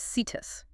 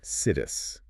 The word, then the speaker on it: situs: The word is sittus. It is spelled si tu. Citus. It sounds like the word site.